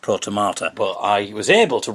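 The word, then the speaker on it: protomartyr: So, it's pronounced protomata.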